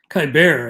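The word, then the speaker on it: Keibert: about adding kyber ruiz kai bear i think is how it's pronounced uh kyber ruiz even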